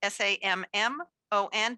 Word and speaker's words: Sammon: It's not spelled like the fish. It's spelled SAMMON, but it sounds like the fish.